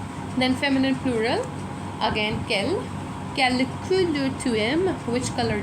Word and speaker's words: quelle: Quelle couleur tu aimes? Which color do you like? All the quel are pronounced the same way, but when you write them, then you should write the correct spellings.